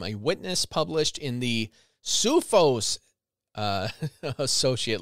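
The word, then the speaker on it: CUFOS: Several weeks later, according to a letter from a witness published in the SUFOS associate letter, this C-U-F-O-S, so like MUFON, but SUFOS. The witness, or maybe it's KUFOS, hard C.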